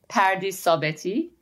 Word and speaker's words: Pardis Sabeti: So it's Dr. Pardis Sabeti. If it was in Persian, it would be Pardis Sabeti.